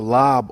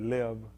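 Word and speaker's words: לב: The lob, they spell it live. L-A-B is how we typically spell it. They're saying that the A actually makes an E sound and that the B makes a V sound.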